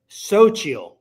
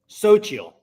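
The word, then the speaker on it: Xochitl: But they're actually pronounced sochial. Sochial.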